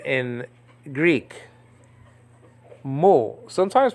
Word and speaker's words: Mu: deal so this is the m in Greek Mo sometimes pronounced meal but in modern Greek the name has changed